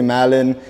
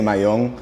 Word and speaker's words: Mallon: people say it differently some people say Malin in Spanish it's I'm a Cuban American so we say my young my own okay right but I